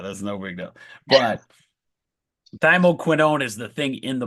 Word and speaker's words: thymoquinone: If you remember oh, I'm gonna say it wrong. I say it all the time. Quinine, right? And then quercetin. This is gonna sound very similar. It's thymoquinine. It's thymoquinone. So it's in that similar family.